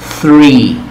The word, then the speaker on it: three: Este sonido TH es como una letra Z española, ¿verdad? Sí tiene que haber escuchado en español el dialecto, la dicción que él tiene al pronunciar la letra Z. ¿Ok? Pues es el mismo sonido, el más cercano a este. You say like three. Like this, three.